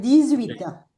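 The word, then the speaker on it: dix-huit: Acá la h no se pronuncia porque no se pronuncian las h pero la t se pronuncia. Está bien. Entonces va a ser disita.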